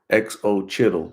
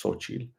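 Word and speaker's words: Xochitl: that, I was like, how the heck you pronounce it? XO Chittle. That's how I pronounced it at first, but then they corrected me, said it's Sochi.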